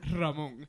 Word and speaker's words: Ramon: Like they can't roll the R or what?